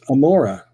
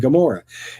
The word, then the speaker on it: Gomorrah: It's the same letter that we have in the two cities. One city is Sodom, and in Hebrew it's Amorah or Ramorah. But when you put it in Greek letters, it becomes a gamma or a G sound. And so we say Sodom and Gomorrah.